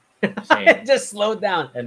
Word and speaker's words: Tintin: Oh, it still says Tintin. It says Tintin. Oh, but it says American pronunciation. Okay, let's do British pronunciation. Tintin.